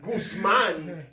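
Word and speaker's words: Guzmán: Oh, that's not how you say it? Guzman. Guzman is the proper way of saying it. Guzman.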